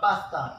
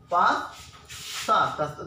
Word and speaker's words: pasta: It is not, the pronunciation of this word is not correct. Okay, pasta, not pasta. It is pas. Okay, ta, pasta.